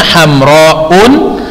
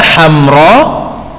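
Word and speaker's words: حمراء: ditanwin jadi salah besar Kalau antum baca katak hamro ini dengan Antum membacanya HAM round atau hamro and atau hem Rock in ini salah semua Hai yang benar adalah HAM roll Who Care dia enggak boleh di tanwin jadi Antum a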